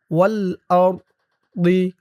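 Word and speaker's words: وَالْأَرْض: আর ওয়াল আরদি, এই ত চিহ্ন হতে অক্ফ করার কারণে বদের নিচে জেরটা সাকিন হয়ে যাবে। উচ্চারণ হবে ওয়াল আরদ। ওয়াল আরদ, মানে হামজা দিয়ে র কেও ধরবে, বদ কেও ধরবে।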